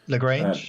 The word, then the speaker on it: Lagrange: the laurence is it laurange cloud so you pronounce it lagrange lagrange uh the lightning ones are the ones